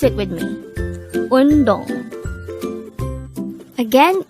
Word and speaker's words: 운동: Undong. Undong. This is pronounced as a two-syllable word. The first syllable is un, the second syllable is dong. Pronounce it with me. Undong.